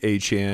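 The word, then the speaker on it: Achane: And let everybody know it's A-Chain. Yeah, he was just letting everybody mispronounce his name for years.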